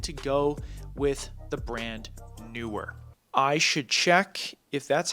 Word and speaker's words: NEEWER: why I decided to go with the brand NEEWER. I should check if that's how you pronounce that. I'm not great with names, so give me a second here. Okay, it's pronounced NEEWER.